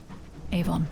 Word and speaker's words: Avon: let's just go to Port Avon ion Avon that's how you say it and just grab a